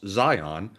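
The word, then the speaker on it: Zeihan: says in all seriousness zehan pronounced zion is brilliant and you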